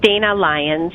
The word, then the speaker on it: Dana Lyons: of your last name i think i have miss leon missy on with us good afternoon madam chair it's dana lyons dana lyons okay thank